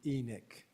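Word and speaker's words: Enoch: minor uh correction Ross the southern Utah people pronounced the town enck you know Carlos corrected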